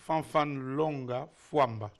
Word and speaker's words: Fanfan Longa Famba: Fan Linga Fia. Please, what's the correct pronunciation of your name? Fan Longa Fua.